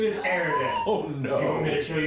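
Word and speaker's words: Erdan: My name is Aridin.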